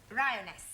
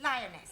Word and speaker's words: lioness: three give the feminine of the following lion roness lioness roness no l l r r you're not saying it right very sorry I know try saying roness lioness good well in future every time you see